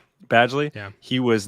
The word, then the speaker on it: Badgley: It's Badgley.